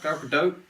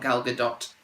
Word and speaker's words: Gal Gadot: Gal Gadot. Gal Gadot. If you're an American, sorry, you lot say it wrong. It's not Gal Gadot. It's obviously a French-sounding name. Gal Gadot.